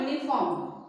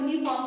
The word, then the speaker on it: uniform: Though it begins with vowels, the word begins with vowels but are pronounced with a consonant sound. Now what is this consonant sound? For example, a uniform. Now when we speak about uniform, suppose it starts with U.